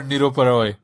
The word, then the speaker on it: Nirupa Roy: She was our Nirupa Roy, basically. That's the right name, right? I pronounced that correctly. Yes.